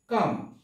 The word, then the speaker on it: calm: এরপরে হচ্ছে কাম, কাম শব্দের অর্থ হচ্ছে সি এ এল এম, এখানেও কিন্তু এল আছে কিন্তু উচ্চারণ হবে না কাম।